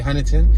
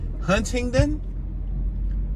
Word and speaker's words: Huntingdon: I had to pronounce it, and I say Huntington because I'm from Philly, where Huntington Park is Huntington Park. It ain't Hunting Park. But yeah, Huntingdon.